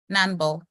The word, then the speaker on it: Nanball: Nanball. Yeah, 2 syllables, correct.